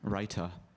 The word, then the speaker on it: raita: raita can you please am i saying it correctly say that again writer you are r a i t